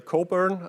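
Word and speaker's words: Cockburn: Alistister Coburn. Um that's how his name is pronounced.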